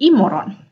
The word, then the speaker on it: imorgon: Oke, lanjut di sini imorgon, tulisannya imorgon, tapi ingat sama kayak saat bilang selamat pagi, tulisannya god morgon, tapi dibacanya moron ya. Jadi imorgon ya, imorgon ada tisdag ya, imorgon kayak gini, imorgon ya, imorgon.